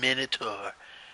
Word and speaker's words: Minotaur: note war Minotaur if there's only one word the one way to pronounce it it's Minotaur Minotaur I mean how else